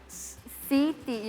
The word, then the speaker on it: Siti: So this would be pronounced Siti. Siti, exactly how it is.